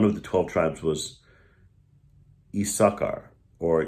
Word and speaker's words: Issachar: So, if you go back in Jewish history, there was a tribe by one of the 12 tribes was Issachar, or Yisachar in Hebrew.